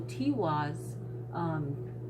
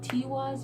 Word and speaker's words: Tiwaz: Tiwaz, you can pronounce it, but T can be pronounced like Tuesday. Tiwaz, you know, Tuesday. So it all depends on how you pronounce it.